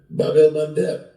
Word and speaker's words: Bab el-Mandeb: I mean, the Houthi have shut down the Red Sea, the Bab el-Mandeb.